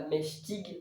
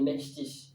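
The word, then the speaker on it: mächtig: ferait euh mèche pig Mais c'est pas tig à la fin c'est tich comme c'est vous pouvez vous pouvez remplacer entre guillemets dans dans votre tête pour la prononciation le g par ch donc pas mhtig mais mhtich mich puissant ensuite demstat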